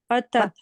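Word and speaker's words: Hamzatul qat': Qata. Qata. Qata. Mm. Okay, so this is hamzatul qata, Qata. and that is strong hamza. So even though whatever come before it, we are still going to pronounce it.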